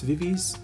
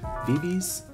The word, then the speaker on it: VIVIZ: I'm pretty sure it's VIVIZ. VIVIZ? Like VIVI, but Z.